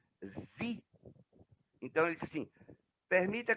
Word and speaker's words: Xi: E no inglês, no original, se pronuncia Z.